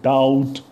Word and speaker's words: doubt: Doubt, DOUBT. We don't say doubt, but doubt, right?